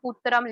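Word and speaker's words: पुत्रम्: Whenever you have that anuswar ka sign, kathitam, putram, likhitam, pronounce it as ma and not ha.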